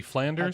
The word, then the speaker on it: Flanders: in the specific west flounder's brown beer so would that be flanders to say about that yes sir flanders flanders yes you said flounders and i was like oh wow i said flounders yeah you know little